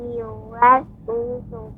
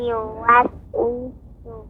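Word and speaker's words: يوسوس: Malikin nas, ilahin nas, min syarril waswasil khannas, allazi yuwaswisu fi sudur, allazi yuwaswisu fi sudurin nas. Allazi, ya sebentar adik, Yuwaswisu, yu dengan memonyongkan bibir, yuwaswisu. Wi juga memonyongkan bibir.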